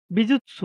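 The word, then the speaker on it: 美術: বিৎসু অ্যা বিজুৎসু, হ্যাঁ? উচ্চারণটা হবে কি? বিজিৎসু, বিজিৎসু মানে চারুকলা।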